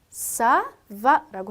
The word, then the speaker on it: ça va: C 밑에 이렇게 꼬리처럼 생긴 거가 붙어 있으면 이 철자 부호는 S 스펠링처럼 읽어주시면 되세요. 자, 그럼 읽어볼까요? 맨 끝에 단어가 사바라고 해요.